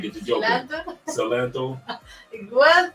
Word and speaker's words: Salento: Salento?